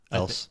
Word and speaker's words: Else: get to meet else oh I always said Elsi but I think you know those again yeah I just the way it's pronounced the audiobook else else okay we'll stick with that I would